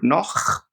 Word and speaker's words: noch: Bist du noch nüchtern? Bist du noch nüchtern? So this is actually very good to hear the difference of how CH is pronounced. In the word noch, it has a ch sound.